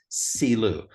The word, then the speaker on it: Shiloh: what we would call Shiloh he had never heard it with the sh sound he had only heard it pronounced as celu and Ted my friend